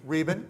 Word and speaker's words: Rabin: Now, we also have two artists on the panel, and one of them is Alex Rabin. Is that pronounced right? Rabin, okay. Close.